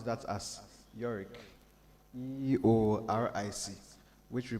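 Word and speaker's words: EORIC: Usually when you come around, we pronounce that as YORIC, E-O-R-I-C, which we pronounce as YORIC.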